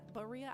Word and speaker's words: Berea: right he's from Berea I heard I pronounced it wrong earlier but Berea I think that's right um I think that's right um he's from Berea Kentucky um and he